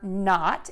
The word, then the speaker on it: knot: We have a silent letter today. We are not going to say the letter K.